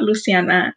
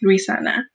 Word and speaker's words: Luisana: Little four-year-old me would tell my teacher, my name is not Luciana, it's Luisana.